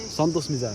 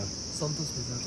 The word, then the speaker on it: Santosh Mijar: Santosh Mijar. Santosh Mijar.